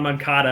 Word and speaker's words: Moncada: Dominic Fletcher, Andrew Vaughn, Yohan Moncada.